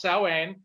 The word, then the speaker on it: Samhain: original Halloween was actually called the Festival of Samhain. Y'all know it better as Glenn Danzig's other band. It's spelled Same as- hand. Yeah, but it's Yeah. pronounced Samhain.